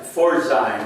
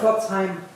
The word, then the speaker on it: Pforzheim: who came from the families from Frankfurt and Pforzheim. I don't know if I pronounced that right. Pforzheim.